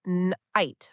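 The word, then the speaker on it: knight: It's pronounced night with the K being silent.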